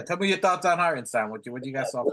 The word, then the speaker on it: Hartenstein: You gotta give Hartenstein, which is the proper way to say it. Hartenstein.